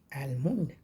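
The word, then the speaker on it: almond: डी इसको पढ़ते हैं एलमंड एल एम ओ एन डी होता है लेकिन लगता है कि एम यू एन डी का इसमें उच्चारण आ रहा है एलमंड एल एल होप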